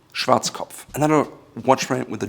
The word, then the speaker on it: Schwarzkopf: Again, Schwarzkopf. Schwarzkopf.